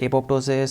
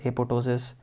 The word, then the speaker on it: apoptosis: Some people call it apoptosis, some people say P is silent, so they call it apoptosis.